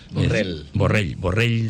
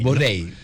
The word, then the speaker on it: Borrell: Borrell se pronunciamos en catalán. Porque es una L de llave. Sí. Borrell. Es Borrell.